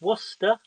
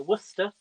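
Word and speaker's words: Worcestershire: so what's the sauce is great it is pronounced worcester so worcester whether you not i know what's the sauce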